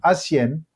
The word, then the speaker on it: Asien: by the name of Asien. The H is silent, isn't it? The H Asien. is silent.